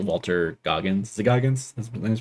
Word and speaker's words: Goggins: Is it Goggins? That's what his name's pronounced.